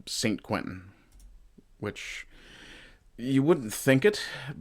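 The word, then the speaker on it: Saint-Quentin: Uh so where this battle happened was called a place called St. uh Sanentin I think is how it would be pronounced in France in French uh St. Quentin which you wouldn't think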